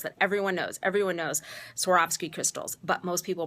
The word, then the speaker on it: Swarovski: Swarovski. Everybody pronounces it wrong. These sort of famous Austrian crystals that everyone knows. Everyone knows Swarovski crystals, but most people pronounce it wrong.